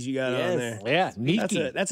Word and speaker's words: Nike: Which, by the way, Nike, I learned, is actually pronounced Nike, and it was the goddess of like victory and winning and stuff like that.